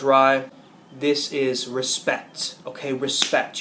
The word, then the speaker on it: Rei: The second is Rei, or I believe it's pronounced Rai.